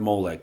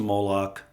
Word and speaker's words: Moloch: It has to do with sending your children through the fire of Molech, sacrificing to Moloch, how some people say it differently, depending upon the Hebraic pronunciations and vowels.